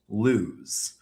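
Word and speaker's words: Lewes: Everyone calls it lose.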